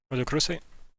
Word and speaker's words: rhodochrosite: Can you spell it? The RHOD Rochester. RHOD OCHRO site. Excuse me. Roda, psych. Rhodochrosite?